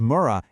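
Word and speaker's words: 村: You'll see this character, Mura, pronounced Mura, everywhere in Japan, and it just means village.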